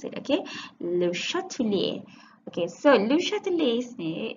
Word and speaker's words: Le Chatelier: the chemical equilibria correctly okay that's how you pronounce it okay le chatelier okay so lucha de lesney is a french